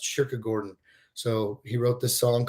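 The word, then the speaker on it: kyrkogården: Sweden and uh uh Cemetery in Sweden I guess is I think pronounced sugar Gordon so he wrote this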